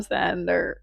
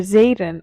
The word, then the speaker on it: Xaden: We've reached that part where her sister tells her to stay away from Xander. God, who's Xander? Zayen. Oh my god, did I say the name wrong?